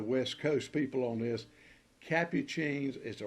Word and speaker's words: Capucine: duds cup cheese been some argument that the pronunciation is Capuchin or whatever it is well I got serious